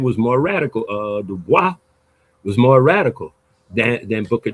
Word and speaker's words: Du Bois: And he pronounced it Du Bois, by the way.